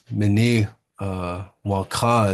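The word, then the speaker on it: Minnewanka: Mini Wonka is the proper way to say it. And I think the way most people know it is Mini Wonka.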